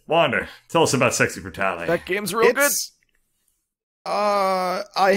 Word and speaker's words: Brutale: Pronounce the E, they say Brutale, but it's a weird don't they? Word. Italians would say Brutale, but... Yeah. I just figure, like, Royale. Yeah. Well, I guess it would be Brutale.